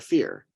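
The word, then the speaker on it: Fier: presumably evoked by Sarah fear spelled f-i-e-r but pronounced fear Sarah was executed for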